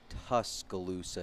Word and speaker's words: Tuscaloosa: It's Tuscaloosa is pronounced like the tusk of an elephant and then Luca.